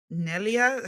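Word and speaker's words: Mnelia: uh Say Yeah by a girl called nellia her name is spelled m n e l i a okay um and okay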